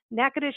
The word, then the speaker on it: Natchitoches: Orleans would be which is your hometown but NACA dish is pretty central to a lot of main